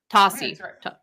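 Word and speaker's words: Tosi: Soy, how do you say her last name? Tossy.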